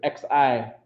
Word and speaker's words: xi: this in chinese xi they'll pronounce this c right where they say it's between if you look at how you how you talk is between the sound you make between saying s and s h so if you say